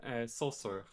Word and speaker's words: Saussure: It's Saussure.